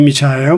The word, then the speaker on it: Michael: E no LinkedIn também é Michael, se escreve Michael, né, mas se pronuncia Michael, tanto no Instagram como no LinkedIn.